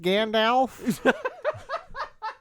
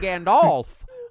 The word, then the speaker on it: Gandalf: Also, it's pronounced Gandalf. The way you typed it, I suspect you were saying Gandalf.